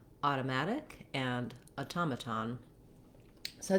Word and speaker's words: automaton: to pronounce automatic and automaton. So these words look fairly similar, but sound rather different because of where the stress falls in the word. That makes the vowel sounds change.